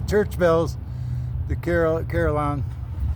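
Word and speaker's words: carillon: Or carry on in French. Is that how you say it? Well, it's a it does come from the French with the L's would be silent or make the Y sound.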